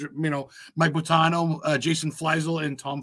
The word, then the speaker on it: Buttino: I butchered names. No, my last name is, and Mike is Buttino, and then Jason is Flessel.